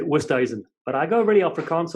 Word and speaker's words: Oosthuizen: Oosthuizen, the young lad who was playing, his dad came up to me and said he wanted me to say it properly, Oosthuizen.